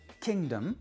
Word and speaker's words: kingdom: Dans le cas des préfixes et des suffixes, eh bien par exemple, si vous avez le mot kingdom, c'est d'abord king qui est accentué et le suffixe dom ne va pas être accentué.